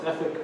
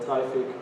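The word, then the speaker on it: Traefik: uh we use uh trfic uh it says you pronounce like uh traffic we call it trific because the difference between traffic and trific is easier to understand on traffic and traffic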